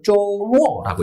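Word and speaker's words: 周末: 그래서 쪼모라고 읽어요.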